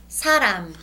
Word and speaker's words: 사람: When it's in the beginning of a character or a word, it is an S sound. Please read the first word. 사람.